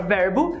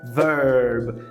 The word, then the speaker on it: verb: Por exemplo, a palavra verbo é verb. Você vê o E escrito, você quer falar verb, porque você viu o E.